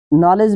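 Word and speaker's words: knowledge: यहां दी साइलेंट रहेगा नॉलेज में यह दी साइलेंट है और एन के पहले के है तो के भी साइलेंस है आप ऐसा के साइलेंट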